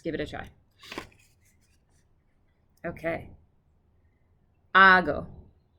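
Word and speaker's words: ἄγω: it a try okay ago the emphasis is on the first syllable okay now we're gonna do it ready four times or three times ago ago ago okay and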